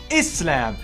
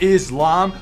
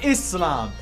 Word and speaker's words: Islam: It's pronounced Islam, not Islam, but Islam.